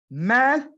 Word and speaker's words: math: One is with the TH and the other one is with an S. La que termina con TH, Shira, usted la va a pronunciar como Z, math. La que termina con THS, la va a pronunciar con una ZS, maths, maths.